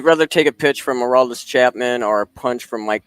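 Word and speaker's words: Aroldis Chapman: Would you rather take a pitch from Hurrdat Chapman or a punch from Mike Tyson to the ribs?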